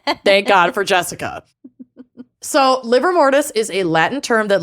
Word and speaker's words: livor mortis: Is liver mortis. Livor. Livor mortis, but it is just pronounced I know. liver.